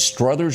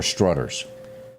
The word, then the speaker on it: Struthers: not sally strothers okay do you pronounce it struthers or strutters struthers i think streathers okay i think delena